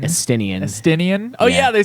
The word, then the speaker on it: Estinian: Okay, so once that's all settled, you return to Ishgard, deal with a few things, and along with Istinian. Estinian.